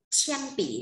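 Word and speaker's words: 铅笔: Chen pỉ nhá. Đấy, cái từ bút chì đọc là chen pỉ.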